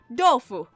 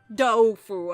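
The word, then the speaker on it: 豆腐: with like Chinese like the way you say tofu in Chinese it's pronounced dofu or something like that my Chinese is terrible but it's like with a d it's like dofu I don't know why and then when it's translated it's tofu and like I would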